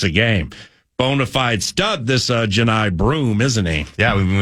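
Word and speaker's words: Johni: so how do you say broom's first name Janai yeah I'm pulling for Auburn because Janai broom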